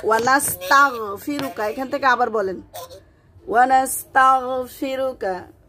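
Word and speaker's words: ونستغفرك: ইন্না নাতে টানতে হবে, নাস্তাঈনুকা রিতে টানতে হবে, মাদ আছে, নাস্তাঈনুকা ওয়ানাস্তাগ মুখটা ওপেন হয়ে যাবে, ওয়ানাস্তাগফিরুকা ওয়ানাস্তাগফিরুকা। জি, আপনি যদি তাগ এরকম না করেন তাহলে সঠিকভাবে উচ্চারণ হবে না।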